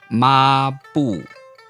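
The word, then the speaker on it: 抹布: A fourth tone starts right about where a first tone would start and end. So it's not ma and then bu. It's ma bu.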